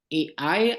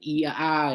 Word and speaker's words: AI: eh yang benar itu ada ai atau I bacanya Ya ada ai ya artificial intelligen bukan iaa ya bacanya Ya kemudian ada virtual